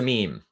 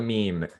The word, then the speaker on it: meme: calls it a meanie it's a meme a meme rhymes with cream the name of this